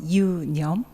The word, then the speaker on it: Yoonyum: or thought so union the pronunciation is a little difficult right so you can follow me you yum great so union literally